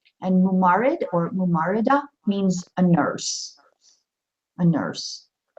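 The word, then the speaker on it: ممرضة: Let's see, it's mub now, so it'd be mubarida. Mumarida. Mumarida. It's a mumar. Sorry, mumarida. Mumarida. So mumarid for a male, mumarida for a female. And mumarid or mumarida means a nurse.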